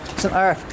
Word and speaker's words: St Erth: St Ives, I'm going to say it right, St Erth tea room.